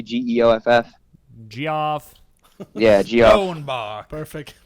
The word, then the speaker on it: Geoff: Jif, like the peanut butter? No, it's Or- not like Jif, the peanut butter. It's Jeff, spelled the British way, Geoff.